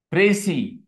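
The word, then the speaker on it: précis: write precisely precisely PR it is pronounced the French word actually it is pronounced it is pronounced as pry p r a y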